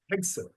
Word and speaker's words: Hegseth: Now, from what I understand, and look, I don't want to be too cynical, Hegseth, I can never pronounce his name. Hegseth, right? Hegseth, yeah, that's right, Hegseth.